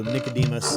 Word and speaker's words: Nicodemus: watching this scene that has no dialogue so nicodemus this is how we say his name in